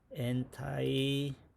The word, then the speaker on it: anti-Semitic: anti-Semitic 이게 정식 발음이라네.